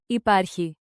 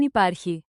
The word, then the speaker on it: υπάρχει: Δεν υπάρχει. Quick mnemonic. You park key, sounds like. Υπάρχει. Park the key to find what exists. Pronounce it. Repeat after me and exaggerate the rhythm. Υπάρχει. Stress on par.